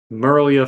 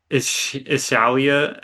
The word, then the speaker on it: Mirlyah: We had Ishalia, is how you say your name? Mirlyah.